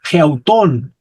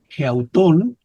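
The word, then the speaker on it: ἑαυτόν: Ya no es autón de alguien más, ahora es geautón. tiene espíritu rudo aquí, geautón, que significa el Señor se ve a sí mismo.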